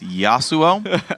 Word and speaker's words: Yasuo: One thing he doesn't know very well, though, is how to pronounce the name Yasuo. It's Yasuo, probably.